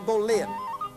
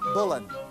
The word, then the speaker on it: Boleyn: No, not Anne Boleyn. Anne Boleyn, to rhyme with good English woolen.